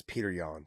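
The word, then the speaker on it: Petr Yan: a win over pyotr however you want to say his name it's peter yan okay people there you go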